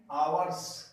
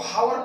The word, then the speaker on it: hour: अब 2 घंटे से है तो फॉर 2 आवर्स, और इंट्रोगेटिव मार्क। कुछ लोग इसको हावर पढ़ते हैं तो फ्रेंड्स गलत है, वो हावर नहीं होता, यहाँ पर ये साइलेंट है इसलिए इसको हम पढ़ेंगे आवर।